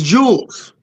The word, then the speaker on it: Jewel: put a s on Jewel it's Jewels see we do put s on Jews even though it's not there this a whole Chicago